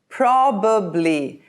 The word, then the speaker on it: probably: Probably. This word has 3 syllables.